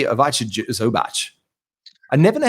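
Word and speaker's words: Ivica: I say Avacha Zubac. I never know how to say his first name properly, mate. Tell us a little bit. Avika. Yeah, it is Avika.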